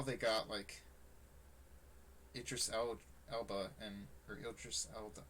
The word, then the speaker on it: Idris Elba: The music might not be, but I don't know how they got Elba and or Idris Elba. How do you say his name? Idris Elba.